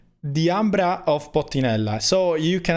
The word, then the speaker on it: DIAMBRA: the way it is pronounced i mean i'm pronouncing it the ambra because the ambra was an italian woman and so even if sometimes i happen to call it diamond because you know the the type of name